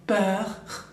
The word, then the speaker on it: peur: Avoir peur es miedo, peur, cuando la R final suena tipo como una G, bien, peur, bien, peur.